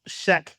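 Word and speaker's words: SCHEQ: It's pronounced Shrek, but it's like Shrek, but without the R. But the long version of the name is STEM and cancer health equity. So that's how Shack came to being.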